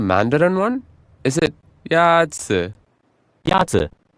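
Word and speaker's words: 鸭子: Yazi. Is pronounced with a first tone. In Mandarin, there are 4 tones, which are essential to distinguish the meaning of words. The first tone is a high-level tone. Oh, okay.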